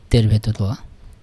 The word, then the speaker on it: tervetuloa: তেরবেতুল।